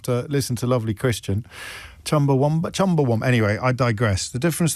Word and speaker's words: Chumbawamba: I'm sorry to be that person, he writes, but it's Chumbawamba, not Chumbawamba. Who put the U in Wamba? I think that's just the way I talk. I mean, if you'd asked me to spell it, I probably would have said Chumbawamba with a U. But does it sound that different? No one says Chumbawamba.